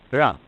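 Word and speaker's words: 仁: Although when we Romanize this word in English, we spell it J-E-N, it's pronounced Jan. Sort of like rolling an R, or rather saying R but not rolling it.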